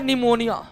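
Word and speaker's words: pneumonia: गए दूसरा दूसरा है निमोनिया निमोनिया निमोनिया में पी साइलेंट रहता है निमोनिया में पी साइलेंट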